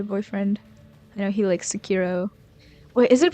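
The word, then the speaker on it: Sekiro: Okay, so it is Sakiro. Sakiro because I know a lot of people who say Sakuro and it's making me doubt sex hero perhaps I'll say it like that.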